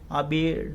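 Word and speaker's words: Abiad: health minister Fijar आबिड सेड, ठीक है ना, उन्होंने बताया कि इसका प्रोनाउंसिएशन देख लेना, आबिड हो रहा है ना, सेड, उन्होंने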